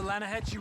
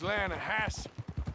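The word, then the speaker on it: Lannahechee: The other day I rode down to the Lanahche River. I caught some beautiful steel head trout. You mean the Lahassy River? No, no, no, no, no, no. The the Lanahhatche.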